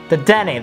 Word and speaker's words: Dedenne: Oh, this Dedenne, this is really great. Or Dedenne. Dedenne, that's right.